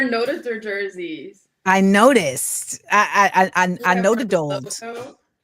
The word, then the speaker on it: Nodutdol: I Nodutdol. How do you properly pronounce Nodutdol? Am I doing it right? You're doing great. Nodutdol. Nodutdol. Yeah, perfect.